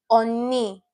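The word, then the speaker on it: 언니: So, for the first word here, what we have is oni. Oni for big sister. Oni. The first syllable is the third syllable and the second syllable is the first syllable.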